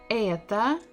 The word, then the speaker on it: это: Это почта. Это почта. Это почта. because in the first word это, the stress is not on O, so we must pronounce it as A.